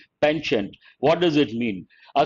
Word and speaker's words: penchant: india's current regime has a pawnshop no p sound no t sound please remember penchant better to use a american pronunciation pension what does it mean